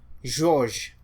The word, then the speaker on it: George: When G is followed by E or I or even Y, then you pronounce it as J. So that's the kind of thing you have in names like George, George, or you have Gilles, Gilles, George.